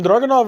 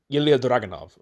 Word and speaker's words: Dragunov: And Ilya Dragunov. I'm trying to say it as close to Russian as possible because he is Russian. But there's the whole German background. It's weird.